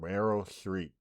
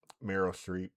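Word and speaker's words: Meryl Streep: Uh, I thought Mel I always say her name wrong. Mel Street. I thought I could never get her name, but that last How you say it? Merryill Streep.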